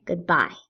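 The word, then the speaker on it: goodbye: how do you say good bye you good is not stressed but we really in the English language we stress bye good bye we also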